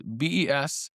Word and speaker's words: Besançon: Besançon, which I think Besançon, it's Besançon. It has a little accento, but it's underneath this C, which is a nice